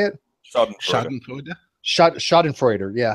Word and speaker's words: Schadenfreude: Schadenfreude. Schadenfreude. Yeah. How do you guys know that? By the way, not Freuder. I don't know. Freude.